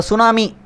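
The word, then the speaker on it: tsunami: இப்போ சுனாமி அப்படின்ற வேர்டை நம்ம ப்ரொனவுன்ஸ் பண்ணக்குள்ளே டி வந்து அதில் சைலண்ட்டாக இருக்குது.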